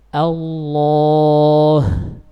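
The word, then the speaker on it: الله: Yang pertama dibaca tafkhim apabila lafzul jalalah Allah didahului oleh huruf yang berharakat fathah. Contohnya huwallah. Betul-betul harus sempurna tafkhimnya. Allah.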